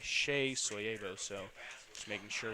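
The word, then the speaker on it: Seyi: Yes, that is pronounced Shea. His name's spelled S-E-Y-I, but he goes by Shea Soyebo.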